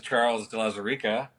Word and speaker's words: Charles de Lauzirika: we have on this week hey this is charles de la Sarika and i'm pronouncing my name for myself because apparently no